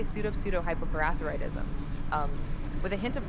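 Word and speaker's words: pseudohypoparathyroidism: For pronunciation's sake, it's usually broken down into smaller parts as pseudo-hypo-parathyroidism. When put together, it's pronounced as follows: Su-dash, high-dash, po-dash, thigh-dash-roid-dashism. Quite a mouthful, isn't it?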